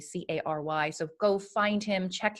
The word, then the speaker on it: Cary: And his name is spelled in the episode, but it's Cary, Cary.